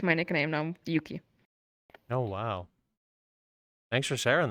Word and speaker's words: Euky: went like English right you know how the EU in Europe it's pronounced U so that's why Yuki and now when I